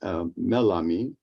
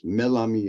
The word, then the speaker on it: Melami: By 1995, I met Melami or Malami, depending on your pronunciation. The pronunciation differs. Melami in Turkish, Malami in Arabic.